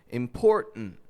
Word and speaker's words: important: So when an unstressed syllable begins with the letter T and ends with the letter N, we will usually make a reduction between the 2 letters and only pronounce the N sound.